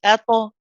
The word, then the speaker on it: طاء: Now notice when ato, you're not it's a nice gentle finish. So you're not saying ato, for example, ato. You know that sort of abrupt hamza sound at the end, that sharpness at the end.